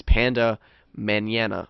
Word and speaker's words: Pandamanana: You can also follow me personally at Pandamanana, which is Panda Manana. Manana, if you speak Spanish. Manana. It's spelled the same way, but it's pronounced Pandamanana.